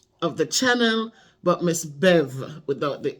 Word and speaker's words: Bev: say my name Miss Bev's production Beverly from Miss Bev's production some of you call me Miss bevs no it's Miss Bev bevs means that it